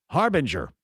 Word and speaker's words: Harbinger: Harbinger is how you pronounce it.